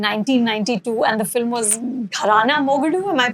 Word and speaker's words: Gharana Mogadu: I mean, I read that in 1992, and the film was Gharana Mogadu. Am I pronouncing it Yeah, correct?